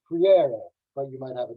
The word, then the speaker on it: Freire: And the way that I say it, according to the northern Brazilians where I learned Portuguese from, is freire.